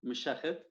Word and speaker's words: Mishakhed: That is the pronunciation, Mishakhed.